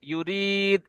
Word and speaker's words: يريد: ইউ, ইউ, এই যে এটা ভুল হবে, ইউরিদ একসাথে يو- হবে, ইউ হবে না, يريد ইউরিদ।